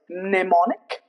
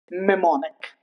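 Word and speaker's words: mnemonic: Mimmonic. Okay. Some people would decide to drop the N instead of the M.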